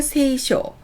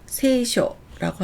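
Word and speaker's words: 聖書: 성화를 세입가 세가라고 합니다 성서나 성경을 세이쇼 세쇼라고 합니다 성당을 세이도 세이도라고 합니다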